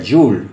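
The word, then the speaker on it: joule: metro es lo que se llama y se escribe así aunque se pronuncia you'll eso lo tienen acá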